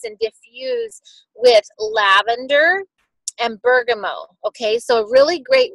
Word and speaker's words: bergamot: it smells most like bergamo and Bergen mo some people say bergamot bergamo it depends on where you're from it is a French word so that T is silent so Bergen mo is um it smells